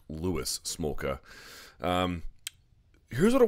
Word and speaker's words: Louis: W taking on Luis I keep calling him Luis smoka it's actually pronounced Lewis smoka um here's what I want you to